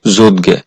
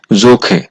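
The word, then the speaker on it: 좋게: বাচ্চিমের পরে আছে গিয়ুক এই শব্দটার উচ্চারণ হওয়ার কথা ছিল যোদগে কিন্তু যেহেতু বাচ্চিমের রুলস হচ্ছে হিউদ বাচ্চিমের পরে গিয়ুক থাকলে সেই গিয়োকটা কিউক হয়ে যাবে এজন্য যেহেতু হিউদ বাচ্চিমের পরে গিয়োগ আছে এই গিয়োগটা কিউক হয়ে যাবে আর এই শব্দটার সঠিক উচ্চারণ হবে যোখে আবার গিয়োগ দ্বিগুচ্ পরে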